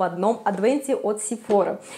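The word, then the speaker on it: Sephora: в одном адвенти от сифора Я знаю что правильно говорить наверное сефара все-таки на французские манер но мне удобнее сефора как-то привычный так вот мне всё-таки больше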